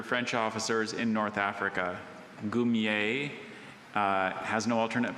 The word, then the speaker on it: goumier: Goumier. Can I have all the information? Goumier is a member of a unit of native soldiers under French officers in North Africa. Goumier has no alternate pronunciations.